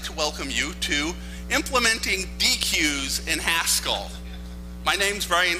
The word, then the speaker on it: deque: I call it a deque. A deque is something you have a barbecue on where I come from, damn it.